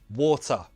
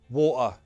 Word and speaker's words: water: First, true T. Mountain, button, bottle, water, hotel, better. Now the glottal T. Mountain, button, bottle, water, hotel, better.